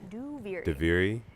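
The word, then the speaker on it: Duviri: out loud is a that's how you pronounce it by the way diviri and then do not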